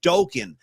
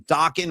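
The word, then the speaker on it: Dokken: the Dawan career because people were mistakenly calling the band Dokan. So then they came out with the with the phrase, listen, Dockan rhymes with rocking. You got to say it like that.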